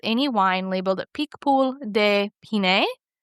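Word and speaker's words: Pinet: And so, really, you can't go wrong with any wine labeled Peakpool de Pine. And Pine is P I N E T. We don't say the T at the end, of course, French.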